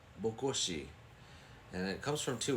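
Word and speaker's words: Bokoshe: next one is this one right here it's pronounced buosi buosi and it comes from two words book meaning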